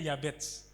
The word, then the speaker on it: Yabes: Saking mamanya ini stres melahirkan anak, bayangkan anaknya dikasih nama Yabes. Kalau bahasa aslinya bacanya Yabets.